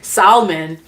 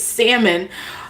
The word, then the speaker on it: salmon: I'm like, "Well, that's how it's spelled," and they're like, "It's salmon." I was like, wait, but what happened to the L? They're like, the L is silent.